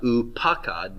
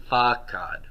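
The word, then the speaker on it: פָקַד: So it's not pakad, but fakad. Fakad.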